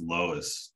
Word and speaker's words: LOESS: so it's usually pronounced Lois Lois okay not like team not like the store it's not like Lowe's yeah but it's like